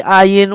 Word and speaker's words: ayin: It sounds like a G, like a G. It is between G and no G, between G and nothing, no sound.